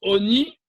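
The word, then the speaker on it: עֹנִי: Alors, dans la Torah, c'est écrit Lechem oni aïn, nun yud, avec un cholam. Ça se prononce oni, mais ça s'écrit ani.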